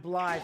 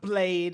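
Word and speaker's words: Blaidd: Not Blade, it's Blythe. At least I think that's how you're supposed to pronounce it. No, it's not Blade. It's B-L-A-I-D-D. Blythe.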